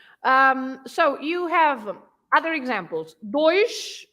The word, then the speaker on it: dois: Dois with sh at the end.